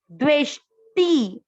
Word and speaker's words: द्वेष्टि: आधा द्वे, ठीक है, द आधा वे के साथ द्वे, आधा श, द्वेष्टि, त पर छोटी ई की मात्रा, द्वेष्टि। ध्यान दे कैसे बोलना है, द्वे, द्वे के साथ आधा श, यहां से इसके साथ बोला गया, द्वेष्टि।